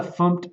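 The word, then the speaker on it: fmt: in the package so I'm saying from the funk package and that's how you pronounce that and that sounds a little funny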